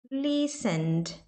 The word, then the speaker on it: listened: Aqui no listen, antes do ed, né, do ed, é um N. Então você não fala esse E. Então fica listen, mais o som do D. Listened, listened. Fica só o som do T, do D ali, ok?